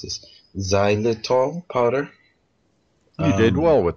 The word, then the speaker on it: xylitol: calcium magnesium powder, 3 tablespoons of, I can't pronounce this, xylitol powder.